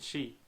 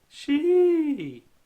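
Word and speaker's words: し: 90% of the time, she is pronounced sh instead of she. While most language books spell it as she, the only time you'll hear the I at the end of the symbol, or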